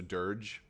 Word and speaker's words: Durge: cool that's for sure soft G so durge okay um very cool